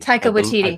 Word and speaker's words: Taika Waititi: how you say his name Tyco with TD Taika Waititi Taika Waititi yeah I mean I correct me